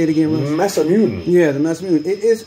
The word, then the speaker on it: Masamune: Masamune.